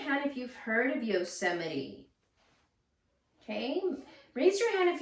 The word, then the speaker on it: Yosemite: Yosemite. Yosemite. There's 4 syllables in there.